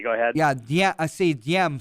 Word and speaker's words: Diem: Yeah, I see Diem. Some people I've heard pronounce it Ziem because the D, our transliteration. So Diem, D-I-E-M.